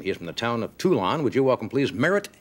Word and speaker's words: Toulon: Did I pronounce the town right? Is it Toulon? Toulon. Toulon, yes.